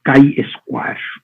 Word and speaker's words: chi-square: This we call, pronounce as chi-square.